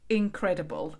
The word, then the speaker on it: Inc.redible: that I'm talking about is called incredible and it's spelt imc dot and then the rest of you know incredible yeah so I came